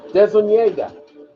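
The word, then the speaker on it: DeZuniga: It is pronounced Tony Dezuniega. The N sound when it has that squiggle, and that's the Spanish language or Portuguese language. That little squiggle gives the N a Y sound.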